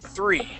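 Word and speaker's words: three: The 3 has that TH sound in it, so let's practice that. 3.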